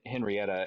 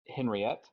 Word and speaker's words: Henriette: I kept saying hen Henrietta and then I think halfway through like at the beginning of the episode we said it right it was Henriette and then like halfway